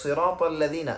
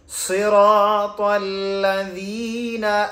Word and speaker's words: صراط: যেমন সিনটা হবে একেবারে পাতলা এবং সদ এটা হবে মুখ ভরে উচ্চারণ হবে।